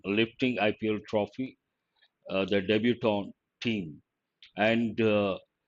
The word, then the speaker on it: debutant: quality or something excellent debutant t is silent part of speech now